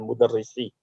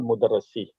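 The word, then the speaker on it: مدرسي: So then mudarrisi, not mudarrasi. Mudarrisi. Mudarrisi. Yeah, it Yeah, is because mudarrisi. This it's in is Arabic. kasra. The You're way right. the Arabic. Yeah, write. you're right. Maybe I said it wrong, but it is right. It's supposed to be kasra. When you have the kasra or the haraka under the shadda, that is the kasra, not fatha.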